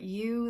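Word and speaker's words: Ewe: And I am a prolific knitter, and I have an Etsy shop which is called I Heart You. That's spelled E-W-E.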